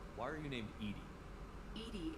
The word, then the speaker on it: EDI: are you named Edie Edie is the phonetic pronunciation of EDI that is an actor